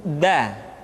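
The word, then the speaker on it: د: Selanjutnya pengucapan huruf da. Da diucapkan dengan menyentuhkan ujung lidah kita dengan bagian gusi-gusi dua gigi seri bagian atas. Da. Nah, kesalahan yang sering dilakukan adalah menyentuhkan ujung lidah dengan langit-langit. Da.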